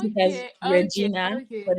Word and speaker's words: Regina: vagina vagina as in vagina University of Regina r e g i n a you'll be tempted to pronounce it as Regina but it's Regina okay okay and you did